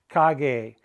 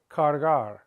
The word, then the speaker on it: cargar: When you say to carry, make sure you keep the R in the word. Cargar.